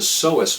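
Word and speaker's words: psoas: While it does engage your abdominal muscles, it also relies heavily on a deep internal muscle called the soous muscle, which is spelled with a silent P in the front.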